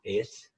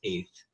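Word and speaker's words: את: So in H853, of course, is Aleph Tau or Eth, and that's pronounced Et to some people, but it's Eth, which means self.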